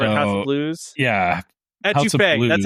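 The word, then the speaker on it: étouffée: Etouffee.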